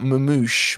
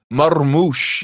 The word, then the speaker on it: Marmouche: It's not Mamouche, man. It's not Mamouche. Marmouche. You gotta roll your R a little bit.